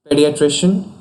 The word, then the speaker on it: pediatrician: Pediatrician. Pediatrician is a combination of Greek pedos, child, iatria, medical healing, and Asian, expert. And its pronunciation is stress on trish syllable, and here's a usage.